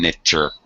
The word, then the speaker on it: miniature: a separate syllable Miner so really it should have four syllables not three min miniature okay what is mini